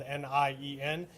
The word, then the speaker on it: Nienhuis: It is spelled Nienhuis, and it is pronounced Nienhuis.